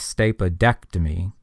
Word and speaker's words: stapedectomy: stuck in there and that's primarily for sound or pronunciation because stap ectomy or stapa ectomy wouldn't really sound too good it'd be kind of hard to pronounce stapa ectomy so it's stapedectomy they stick that D in there between the two e and that is often